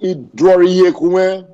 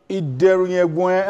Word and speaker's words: Idoriyekunwe: That name is pronounced Idoriyekunwe. Idoriyekunwe.